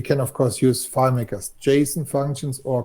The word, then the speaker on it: JSON: of course use filemakers json functions or call mbs functions uh-oh kyle's going to get aroused standby kyle's getting aroused he said json or jason you have to say it like that right so yeah and